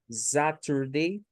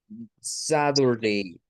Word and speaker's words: Saturday: en medio de vocales, la hacen con un sonido como de una D o de una R a veces. Entonces, Saturday, Saturday es pronunciación estadounidense cuando escuchamos el día así.